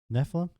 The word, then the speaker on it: Nephilim: they neilan how do you say that word Nephilim Nephilim that's how I say it it might